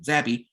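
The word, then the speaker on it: Zappe: led by quarterback bailey zappy and that's how you pronounce it zappy he threw for over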